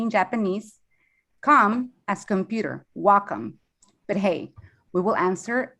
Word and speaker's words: Wacom: of supplying and supporting the creative Community it's pronounced W which means Harmony in Japanese come as computer Wacom but hey we will answer whatever you call